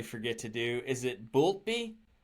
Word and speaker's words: Boultbee: that I accidentally forgot to ask how to pronounce my guest's last name, which I continuously forget to do. Is it Boultbee? Boultbee, yes.